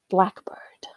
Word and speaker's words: blackbird: in the first part Blackbird H the second syllable in the first sample black bird is also clearly longer than in the compound black bird where it seems relatively compressed and both syllables are of